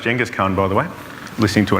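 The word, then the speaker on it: Genghis Khan: call a hierarchy but jenas Khan It's actually pronounced jenas Khan by the way listening to an expert on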